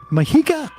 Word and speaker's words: Mujica: And Uruguay's Jose Mujica, did I pronounce that right?